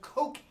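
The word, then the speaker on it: koekje: used it and they had a word that was called coke hey the the J is silent and that's where our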